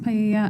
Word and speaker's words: paella: be used to cook paella. I'm not sure if that's how you pronounce it at the party. It's pronounced paella.